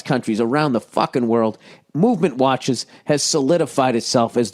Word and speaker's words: MVMT: Oh, MVMT, Movement Watches, pronounced movement, was founded on the belief that style shouldn't break the bank.